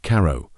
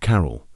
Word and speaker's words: Carow: Edith Kermit Carow, not Carroll.